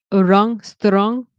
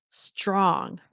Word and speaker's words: strong: Notice if you have the tendency to say strong, it sometimes helps to realize that the TR is very often pronounced as the CH, like a ch and an R. Strong, strong.